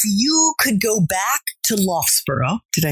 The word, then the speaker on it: Loughborough: last question if you could go back to Loughborough did I say it right oh sorry to love bro and do it all over again Dan but